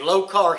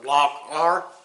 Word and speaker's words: Lokar: what we're going to do is install a low car shifter I recognize how you pronounce it l o k a r low car or lock R however you want to say it but we're